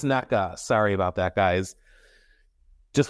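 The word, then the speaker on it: Nneka: know what honestly I I want to know I am going to see if I can find out the proper pronunciation the proper pronunciation of her name give me just a second her name is Naka sorry about that guys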